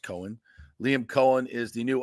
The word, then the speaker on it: Coen: I think it's Coen. Should be pronounced Coen.